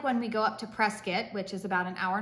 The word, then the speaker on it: Prescott: you recall if you refer to it as Prescott I know that it it looks that way but it's pronounced Prescott um because we're backwards I guess in the